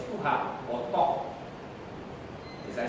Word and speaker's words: Tuah: orang tuha tuan so TW cannot be pronounced or read as Tuah ST It should be read as tuha or to as I